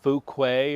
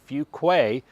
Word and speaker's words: Fuquay: Not Fukuquay or Fuguay or whatever. It's actually Fugquay. And if you're from North Carolina, you know the right way to say it.